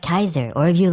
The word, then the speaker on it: Caesar: In classical Latin, the letter C is exclusively pronounced with a hard K sound. So his real name is actually more like Kaiser or if you like Kazar.